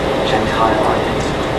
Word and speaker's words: Gentile: Could we start with the proper pronunciation of both your names? Gentile. Gentile. Yes. However, Gentile.